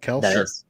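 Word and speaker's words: Kelce: if i do something different like draft travis kels i said it right travis kels in the first round that's going to be the hardest one i think that's the right way to say it right nate kelsey yeah yeah this sounds good i'm on the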